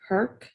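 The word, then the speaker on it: Herek: was directed by stephen herk it's spelled h-e-r-e-k but it's uh one of the trivias on his page said that it rhymed with perk that would be hercules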